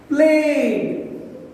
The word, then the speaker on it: played: Here, same way you pronounce played. played. Here at the end, we are releasing the tongue from the upper jaw. Played, played, d sound.